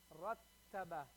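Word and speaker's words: رتَّبَ: Put the shadda on the ta now. Rattaba. Rattaba. You hear the ta? I'm holding that ta sound.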